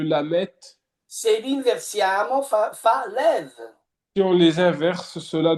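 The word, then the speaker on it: לב: Sapete, la parola cuore in ebraico si legge lev.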